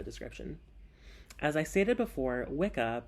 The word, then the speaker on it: Wicca: as I stated before Wicca properly pronounced as wicha is an Old English word for a male witch I also forgot to